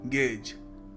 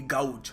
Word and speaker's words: gauge: अब लोग इसको कई बार देखते हैं और सोचते हैं इसको प्रोनाउंस करने का तरीका होगा मे बी गाउज, और काफ़ी सारे लोग गाउज बोलते भी हैं, विच इज़ रॉन्ग।